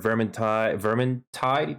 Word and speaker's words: Vermintide: Development experience: Warhammer, Vermintide, that's how it's pronounced, Dead Island, Evolve, Battlestar Galactica, IGI, Origins, and so much more.